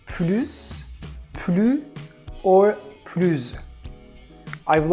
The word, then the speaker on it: plus: Third, if this word has a negative meaning like anymore, we have to pronounce it as plus. For example, je ne veux plus travailler. Je ne veux plus manger. So here, plus means anymore. I don't want to eat anymore. So that's why S is silent.